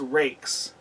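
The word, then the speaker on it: Ruike: they call these rakes they spell it r-u-i-k-e and they call it a rake so this one needs to be cleaned this is i i just just barely took it out of the package and this is what it does so and it you can hear when you do that wouldn't that phonetically be ruka or roika something like that but they call it rake so i am do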